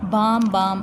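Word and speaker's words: Bamm-Bamm: इसको आप बाम बाम भी कह सकते हो और बैम बैम भी कह सकते हो। अच्छा, प्रोनाउंसिएशन हमारे पास 2 टाइप्स की है, अमेरिकन भी है और ब्रिटिश भी है।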